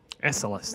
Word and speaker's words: Esalis: Esalis, that's how you say it.